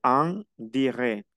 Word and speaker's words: en direct: Regardez, en direct. No pronuncio la T final ni la C.